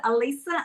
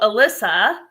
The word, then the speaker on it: Alisa: yes very often so do you pronounce it Alisa as well with that's um Dana pronounces it correctly but none of my other us friends can pronounce it correctly I don't know why well only because we met in person in Mexico because I was calling you Alyssa yes yeah but my